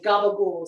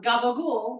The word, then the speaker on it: gabagool: where Southern Italians tend to cut off the last syllables in their words, and most of the people that came over were Southern Italians. So that's where you get a lot of the, like, gabagool, stand up, Jamie.